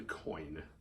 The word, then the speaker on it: Coyne: So Bad Apples is directed by Brian Coyne. I think that's how you say it. It's not spelled like coin. But so movie opens as a header.